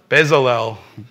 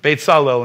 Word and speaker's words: Bezalel: name does anyone remember in English how do you say it in English bezalel batesalo in Hebrew God said see I